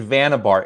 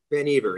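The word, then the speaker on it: Vannevar: that how to pronounce because i've always said vanna bar is how do you pronounce it ben ever it's dutch okay good well that's good to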